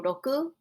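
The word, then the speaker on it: 六: rock and the number six in japanese is pronounced and this looks like a rock with some weeds growing next to it so roku rock stonehenge this is the number six take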